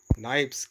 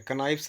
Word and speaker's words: knives: तो पूरा हो जाएगा आई हैड 5 नाइफ्स, I have 5 नाइफ्स। KNIVES, यहाँ पर के साइलेंट है, कनाइफ्स नहीं बोलते हैं, आई हैव 5 नाइफ्स।